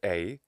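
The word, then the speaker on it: εἰ: really salient examples are the word for if which i pronounce e in the lucian pronunciation or pronounced a in 5th century bc classical attic well this epsilon iota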